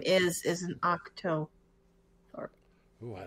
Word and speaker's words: octothorpe: Is it octo or octa? Octo. O-C-T-O. Octo. T-H-O-R. Thor. P-E. Octothorpe.